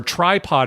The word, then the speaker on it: Trypod: called tripod month where tripod is spelled TR r y p o d like try podcasting right try try it out